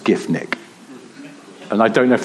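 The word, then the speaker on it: Giffnock: it's sort of and I've been saying on previous recordings it's GIF KN and somebody emailed in who's here tonight actually and said it's actually pronounced GIF Nick and I don't know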